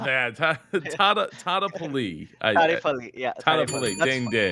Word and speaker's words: Tadepalli: Wherever you're doing right now, I need some super claps for Super Dinesh Tadepalli. Did I say it right? Not bad, right? Not bad. Tadepalli.